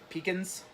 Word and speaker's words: pecan: It's pronounced When pecans. Pecans?